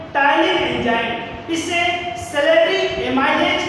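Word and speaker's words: ptyalin: है जिसका नाम है टाइलिन एंजाइम। इसे सेलेरी एमाइलेज के नाम से जाना जाता है। तो देखिएगा, जो टाइलिन एंजाइम है, देखिएगा इसमें पी साइलेंट है, तो टाइलिन एंजाइम क्या काम करता है?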